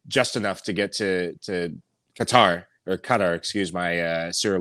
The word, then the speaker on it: Qatar: yeah by the way the correct way to pronounce qatar apparently it's like a soft g with a gata that's i did my homework a while ago to listen to uh qatari natives to say got that but you know you